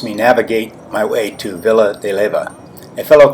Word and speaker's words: Villa de Leyva: Once I got here, I realized that part of my problem in navigating was that Villa de Leyva is pronounced Villa de Leyva.